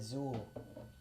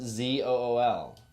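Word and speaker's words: XUL: you're avoiding right oh x u l that doesn't even make sense oh i got it zul c pronounced z-o-o-l there you go name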